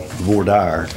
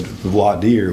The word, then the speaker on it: voir dire: trial that we call voir dire. You hear that pronounced different ways. I think she said voir dire, which is French pronunciation, which is what it really is, but at least in